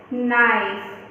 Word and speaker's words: knife: और next picture है नाइफ यानी कि चाकू, तो उसमें भी हमारा जो K है वो साइलेंट है।